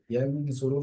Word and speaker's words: ينظر: ইয়াউমা ইয়ানজুরুল, ইয়ানজুরুল শব্দটির মধ্যে গুণা হচ্ছে নুনের মধ্যে, কারণ কি? নুন সাকিন বা তানবিনের পরে জ এসেছে, জ হচ্ছে ইকফা 15 হরফের একটি জ, কারণ এখানে গুণা হচ্ছে।